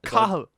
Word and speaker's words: Cathal: Cahill. Cahill. Yeah. So it sounds like Kyle. Yeah, I suppose a little bit. The spelling doesn't look like Kyle, but the So it's pronunciation.